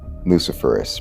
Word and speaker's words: luciferase: at that illumination and with the word itself luciferous because that is the correct pronunciation confirm that lucifer is like ace so